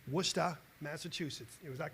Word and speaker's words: Worcester: be attending Clark University and I'm going to pronounce it correctly worcesta Massachusetts is that correct Jay what's that maybe